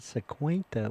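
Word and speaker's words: cincuenta: And your pronunciation on that cinquenta was good. Cinquenta.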